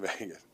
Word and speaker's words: Vegas: You say it like V A Y G- A S Vegas.